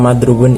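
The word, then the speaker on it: مَضْرُوبٌ: Pada kata madrubun ini stres atau penekanannya terdapat pada ro dan wawu, tekan lebih kuat dibanding dengan fonem lainnya.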